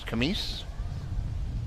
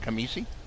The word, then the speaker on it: Kamis: for any uh mispronunciation my last name is kamis uh more commonly uh kamisi i answer to anything